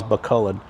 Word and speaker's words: Bacolod: I think that's how they pronounce it, Bacolod.